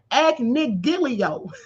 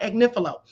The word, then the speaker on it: Agnifilo: They have him in here as Mark Agnigilio. So I'm not the only one mispronouncing it, but his name is Mark Agnifilo.